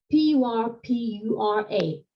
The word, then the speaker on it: purpura: And then purpura, P-U-R-P-U-R-A, the colour purple. In Greek, that's purpura, pi, omicron, rho, phi, upsilon, alpha. Think about porphyry, that wonderful sort of reddish purplish marble. I think it comes from Egypt. So no H in purpura.